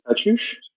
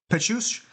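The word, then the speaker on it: Pécuchet: there is a name there, I just can't pronounce it. It's Pechush. Pechush.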